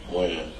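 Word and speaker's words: Wynn: Win. Win or Wen?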